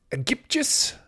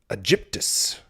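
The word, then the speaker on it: Aegyptius: Egyptius. Egyptus. Hard G, soft G. We shall soon find out. Egyptus. I think it's a soft G.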